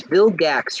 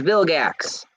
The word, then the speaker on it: Vilgax: his name Ben ten villains Vilgax it was Bill gacks right Vilgax his name was Vilgax I knew it was Vil something I just